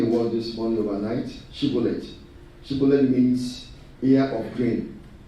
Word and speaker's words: shibboleth: couldn't spell that word, shibboleth. If you read in Judges chapter 12, people from Ephraimites and Manasseh, they say Sibboleth. They couldn't call SH.